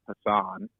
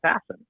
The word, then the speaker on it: Passan: people whose names are spelled differently than they're pronounced because i look like jeff hassan but i'm actually jeff hasson hassan yeah i'm actually and he's got he's